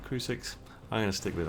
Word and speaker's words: Crucix: the boss fight against cru6 and the twin born um i think that's how you pronounce it crew 6.